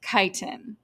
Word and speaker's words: chitin: It's pronounced chitin, okay?